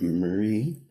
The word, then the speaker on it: Murray: Je m'appelle Murray, prononcé comme parade, mais avec un M.